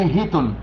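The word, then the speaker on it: χιτών: بس كلمة باللغة اليونانية، كلمة الثوب بتاخد في قاموس سترونج اليوناني جي، يعني يوناني 5509، والكلمة تنطق باليوناني هيتون، والكلمة تعني الملابس الخارجية.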